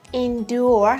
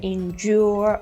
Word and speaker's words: endure: Endure has two pronunciations, either endure or endure, and means to stand something difficult, to tolerate it.